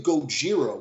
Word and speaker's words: Gojira: actually funny wait took the word Godzilla is like phonetic for the way Japanese pronounced Godzilla you know Gojira which is the two